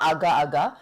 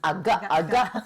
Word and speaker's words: agak-agak: Okay, it's not Agak-Agak, it's Agak-Agak. Maybe, or like, how do you say?